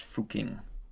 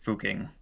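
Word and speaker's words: Fucking: It's pronounced fuking. Yeah, is a place in Austria. Yeah, so it it it's fuking.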